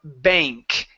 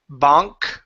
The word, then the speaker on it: bank: So whenever you have an ANG or an ANK, okay, the A changes to a long A sound. So that's why we say thank you, instead of thank you, or bank instead of bonk, we say a bank.